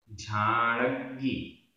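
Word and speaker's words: झाणग्गि: उच्चारण झाड़ग्गी, झाड़ग्गी, आधा ग पूरा ग, झाड़ग्गी।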